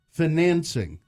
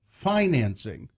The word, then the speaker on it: financing: shrivel when I hear financing like dancing instead of financing Oxford Dictionary has three